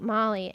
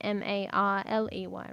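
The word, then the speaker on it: Marlee: So one would think Marley, M-A-R-L-E-Y, right? No. His name is spelled M-A-R-L-E-E, Marley.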